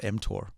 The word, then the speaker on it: mTOR: what's an mtor level am i pronouncing that wrong you can correct me but i know that it's important because it's stuff that i heard you talk about before yeah you're pronouncing it correctly it's called mtor okay m stands for